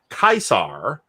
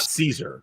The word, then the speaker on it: Caesar: different rules of pronunciation the c is just always hard and classical it's always hard yeah so it's it's scipio it's also kaisar and not caesar so which is why